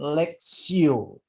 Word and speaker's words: lectio: Kalau bahasa Latin lectio. T tapi bacanya S. Lectio.